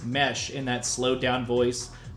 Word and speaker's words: Nmesh: Warehouse Union says, are you the one who says mesh in that slowed down voice on tracks like If I Tell You That I'm Happy? Yes. That's you. Yeah. Also, it is Mesh, right? It's not Nmesh or It is Mesh.